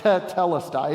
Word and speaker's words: tetelestai: When a verb is a perfect verb, it adds a syllable sort of at the beginning, doubling the first consonant and vowel. So that's why it's tetelestai.